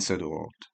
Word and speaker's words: Söderort: Naka and Söderort, which I which I need to not pronounce like it's Danish.